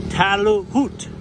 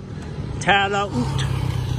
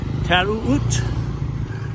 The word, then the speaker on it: Taloot: This is the town called, it has two O's in it, and you pronounce them both. It's called Taloot. Taloot. No, it's not. I'm saying it wrong. Taloot. Taloot.